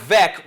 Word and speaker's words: Veeck: Mike Veeck rhymes with wreck.